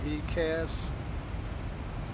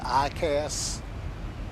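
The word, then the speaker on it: EICAS: be engine right and that's fear flow on ecast and let's see that says no let's see what what shows up if I turn that on um all right so uh F fly and it's actually pronounced iast uh I call it ecast because I tend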